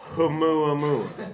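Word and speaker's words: ʻOumuamua: Oumuamua. I love that you pronounce the H. Yes. Oumuamua Well, I think they missed a trick because Arthur C.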